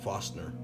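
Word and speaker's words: Forstner: also we're using some foster bits they're a it's actually spelled farst nert but pronounced more like fastener these are made for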